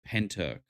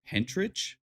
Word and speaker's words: Pentyrch: But I do believe it is Pentyrch is how it's said. Um naturally I want to say Pentyrch, but I don't think that's correct. I don't think that's correct at all.